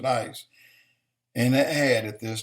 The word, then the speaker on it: IS: And Iran called this group IS, I-S. But they pronounced it ICE.